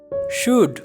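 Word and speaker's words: should: शुड यानी को चाहिए, यहाँ पर एल जो है ये साइलेंट है।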